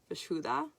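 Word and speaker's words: vishuddha: it um oh yeah the sanskrit word is vishuda which i i don't know i don't know if i'm i need a better indian accent or something but it's v-i-s-h-u-d-d-h-a is you pronounce every syllable so there you go good luck with that um and that i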